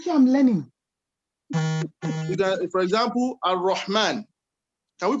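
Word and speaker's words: الرحمن: But in the real sense, when you are pronouncing Ar-Rahman, it is raw, not ra.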